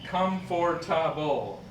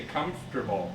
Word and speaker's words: comfortable: well as them okay the second one is the same thing comfortable comfortable but we don't say that we just say comfortable yeah so you don't